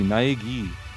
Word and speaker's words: Naegi: Naegi? Is it gi? Wait a minute, this is Japanese. That's not an I, that's an E. Naegi.